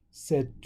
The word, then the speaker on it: c'est: So normally we'd say c'est. So c'est la chaise. So we pronounce this c'est la chaise, and we leave out that T is silent.